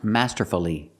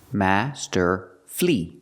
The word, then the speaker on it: masterfully: word is not pronounced masterfully masterfully masterfully is not correct it's not four syllables we pronounce it with three syllables Master flee flee the last syllable